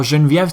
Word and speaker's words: Geneviève: Now Geneviève Tsai, I pronounced that in French, alright, was a concept artist.